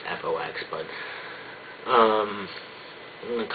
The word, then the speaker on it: F.O.X: actually fox it's funeral outside me and it's pronounced fox but um i'm going to call it fox